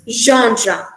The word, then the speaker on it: genre: right mystery or thriller so genre it's not gen gendra it's gendra see while reading it